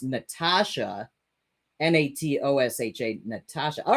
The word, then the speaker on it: Natosha: my head natosha but it's pronunciation is like the regular spelling Natasha ah okay okay so I'm I'm I'm uh I I'm seeing n-a-t-o-s-h-a and saying natosha but it's actually pronounced Natasha n-a-t-o-s-h-a Natasha all right